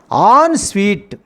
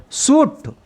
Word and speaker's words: ensuite: The pronunciation of this one is on sweet. We did not articulate suit. Suit is a wrong pronunciation.